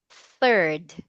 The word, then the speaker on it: third: So can you please say the word third? Third. Okay. So let us emphasize the th sound there.